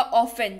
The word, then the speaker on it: often: Spelling इसकी OFTEN है, लेकिन उच्चारण के वक्त T जो है वो साइलेंट हो जाएगा और ये हो जाएगा ऑफन, जिसका अर्थ होता है अक्सर।